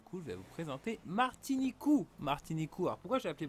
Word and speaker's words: Martiniku: Martinique, ils appellent ça Martinicou parce qu'ils peuvent pas prononcer le que, ils n'ont pas ça dans leur alphabet. Donc du coup c'est remplacé en cou, KU.